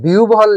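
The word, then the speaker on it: বিহ্বল: আর যখন আমরা এই যে আও ভান খেয়াল করেন আও ভান আচ্ছা আর যখন বিউভল লিখলাম তখন কিন্তু আমরা লিখছি হচ্ছে বিউ ভল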